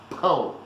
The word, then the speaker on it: pão: So how do you say the word for bread in Portuguese? Pão. First, you get rid of the D. And you go like, "Oh, wait a minute, then it's pound." No, you get rid of the N as well.